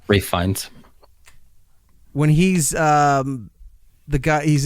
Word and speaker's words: Ralph Fiennes: What if I'm out front like Ralph Fiennes or Fiennes, however you pronounce his name, Rafe Fiennes. Rafe Fiennes.